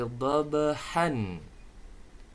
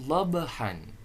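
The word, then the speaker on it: ضَبْحًا: Tulisan dalam Al-Qur'an ayatnya wal 'adiyati dhabhan. Ada tanwin fathah. Kemudian ada waqaf. Maka dibacanya bukan dhabhan, melainkan cara bacanya dhabha. Bacaan dhabhan dibaca dhabha.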